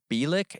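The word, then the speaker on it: Bielek: experiment a man named al bilik is how you say it by luck came forward claiming to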